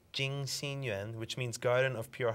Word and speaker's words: Jing Xin Yuan: Jing Xin Yuan, which means Garden of Pure Heart. So it's spelled in Chinese pinyin, J-I-N-G, J-I-N-G, X-I-N, Y-U-A-N,